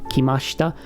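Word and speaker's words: きました: And by the way, you'll hear me pronounce this without putting any emphasis on the I. That's just how it's pronounced in Japanese. Usually if there's an I in between certain endings like this, like kimashita, something something shita, you'll almost never pronounce that I. It's just ever so slightly pronounced.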